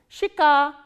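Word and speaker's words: щека: Shika, shika. Again we follow the rule of reduction here. This ye sound is pronounced as e, shika.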